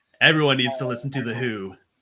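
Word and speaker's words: The Hu: Everyone needs to listen to The Who, and that's spelled H-U, not the old classic rock band.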